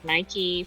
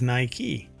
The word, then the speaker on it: Nike: how to it is Nike yeah Nike yeah but that's different than Nike do you put the emphasis on key well they don't have